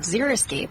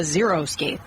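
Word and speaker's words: xeriscape: word zeroscape which is a tough word. It was a it's it's about dry landscape starts with an X. No one knows how to say it. And so I can't tell you how many very smart people I've heard stand up and say, "I'm so proud I have a zerocape.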